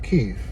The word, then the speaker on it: Kyiv: So, yeah, the city in Ukrainian is called Kyiv and since it's the capital of Ukraine, that's what it should be called.